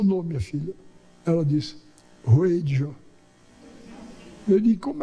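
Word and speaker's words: Wheydja: Ela disse, Ruedja. Eu disse, como é que se escreve?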